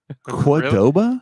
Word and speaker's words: Cordoba: my miffed and peeved cordoba and stillwater has been closed for two months cordoba cordova cordoba yes that's how you say it it's not how you